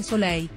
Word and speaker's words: Soleil: di fatto affermato che il suo nome si pronuncia semplicemente sole senza alcuna l finale ha inoltre affermato che